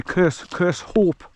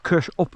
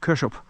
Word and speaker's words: Kershope: I mean we we English would say curse curse hope. But um I've had it on good authority by Scottish people. You pronounce it curs up like a P on the end. Kushup.